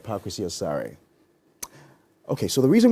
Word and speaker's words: Paa Kwesi: there I told them so how's your name pronounced I said park with your sorry okay so the reason we're doing all